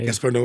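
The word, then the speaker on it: Gaspar Noé: you pronounce his name gasbar no gasbar no is exactly right and uh the the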